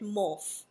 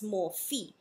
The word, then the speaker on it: Morphe: I heard some people calling it Morphe. I don't think that's how you pronounce the name. It's Morphe.